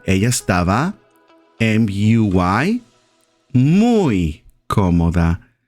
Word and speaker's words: muy: You would say ella estaba M-U-Y, muy cómoda. M-U-Y, that means very in Spanish, and it's pronounced as muy.